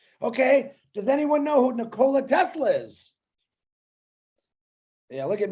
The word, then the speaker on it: Nikola: got it you're caught you're talking about nikolai tesla no it's nicola actually if you pronounce it correctly okay i beg the